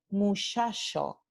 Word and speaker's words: muchacho: Entonces, en el andaluz, esta palabra muchacho no se pronuncia muchacho. En el andaluz se pronuncia muchacho, muchacho.